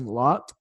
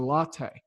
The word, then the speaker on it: Lotte: recently learned about it I was saying a lot it is spell ello tte but it is a latte it just kind of you know sounds like a coffee drink to me